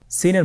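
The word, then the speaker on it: سين: সিন হরফটি উচ্চারণ ক্ষেত্রে অবশ্যই তিন আলিফ টেনে পড়তে হবে। সিন হরফটি বারিক হরফ পাতলা করে উচ্চারণ করতে হবে।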